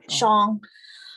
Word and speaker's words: Xiang: Kia, my last name is pronounced Xiang. It's spelled X-I, but it's a S-H, so it's Xiang.